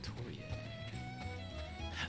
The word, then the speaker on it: Atelier: The Atelier. That's probably how it's pronounced in French, is Atelier.